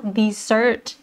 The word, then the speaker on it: dessert: ถ้า เป็น ขนม หวาน เรา อ่าน ว่า dessert นะ คะ ที่ ไหน เอ่ย